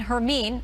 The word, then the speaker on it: Hermine: live radar image of hurricane hermine I'm told that is the right way to say it as it inches closer